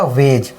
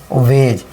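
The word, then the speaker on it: wedge: जैसे यह देखिए डब्ल्यू डी वे और डी क्या रहता है? साइलेंट रहता है। तो जी ई क्या हो गया? वेज तो क्या हो गया? वेज यानी डी साइलेंट रहता है।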